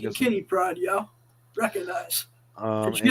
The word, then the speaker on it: Pryde: they got Pride is spelled Pryde as in Yeah, Katie like Pride, I'm like in guessing. Kitty Pride, yo.